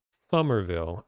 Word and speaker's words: Somerville: oh the game is Somerville I believe it's just pronounced summer it's s-o-m-e-r Somerville Somerville and the